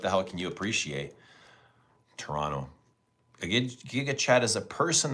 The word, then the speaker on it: Toronto: There's two, but you don't pronounce the second T in Toronto. Toronto. And we know, right? We know if you're from Toronto or not by the way you pronounce this city.